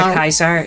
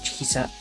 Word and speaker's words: Caesar: His name was not pronounced that way. I think it's closer to Kaisar. Ker. It's like Kizar.